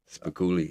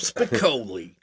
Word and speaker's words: Spicoli: I always get I always say his name wrong. Yeah. Jeff Spicoli. I think it's because of Spanguli that I say his name wrong. I'm always wanting to say Spoolie.